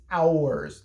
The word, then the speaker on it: ARES: He kept saying ours, ours. It's ours.